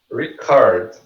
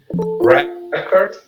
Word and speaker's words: record: Então, ó, nesse caso aqui, a gente tem a apóstrofe antes do co, so record. The co é a sílaba mais forte. Isso aqui é o verbo gravar. Record. E record, isso aqui, ok? Record, repare que o re